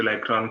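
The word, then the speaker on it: Le Cron: Yeah, we assume that since it is pronounced as Lacron, it is L-A-C-R-O-N, but no, it's not L-A-C-R-O-N. You can check out the spelling in the comment section now. It is L-E space C-R-O-N, Lacron carver.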